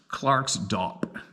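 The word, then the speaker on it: Klerksdorp: a couple hundred clicks Clerk's Dorp pronounced Clark's Dopp well who would have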